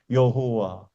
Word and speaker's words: 여호와: 여호와. 여러분 한번 여호와 한번 해 보세요. 그러면 혀를 많이 안 움직여도 바람만 나오면은 여호와라는 발음이 나와요.